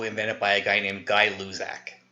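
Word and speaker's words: Gay-Lussac: by a guy named guy Luz AK that's how you pronounce that so sometimes this law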